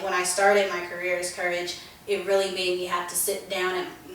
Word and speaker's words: Kouraj: mother gave me so courage is my artist name it's actually creole um it's about kou k-o-u-r-h-a it's actually creole so it's properly pronounced courage so that's probably why